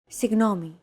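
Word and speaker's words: συγγνώμη: in the following word signomi this word is often romanized like this signomi this character isn't pronounced using English G sound at all it's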